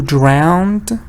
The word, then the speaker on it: drowned: the man who drowned I know it's the it's like cleaned drowned phoned but look at the ow sound the man who drowned now it's easier because